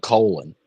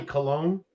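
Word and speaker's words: Colón: Every time I see it, I think Colon. Well, Colon is usually Cologne. I have a soldier in my office right now. That's their last name as well, and they pronounce it Cologne.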